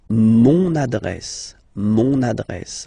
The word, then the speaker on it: mon adresse: Mon adresse, my address, mon adresse, okay, you can hear now this little link, so you get to pronounce this N, mon adresse, okay.